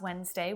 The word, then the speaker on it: Wednesday: I had the most delicious sandwich last Wednesday when I was on a date with a handsome boy. What letter is the silent letter there? Did you guess D?